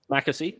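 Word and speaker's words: McAsey: threw out uh fisher mccassie is that how you pronounce it mackersey yep mackenzie sorry um maddie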